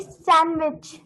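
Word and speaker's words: sandwich: साफ साफ ऐसे बोलिए डी इज a silent letter in सैंडविच word okay in सैंडविच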